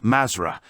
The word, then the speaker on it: Mathra: Mathra is the password for those of 4th degree, which they pronounce Mazra, and which is the lost word for the black magicians.